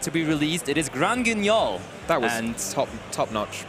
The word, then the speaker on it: Grand Guignol: The latest main set to be released, it is Grand Guignol. That was top-notch pronunciation.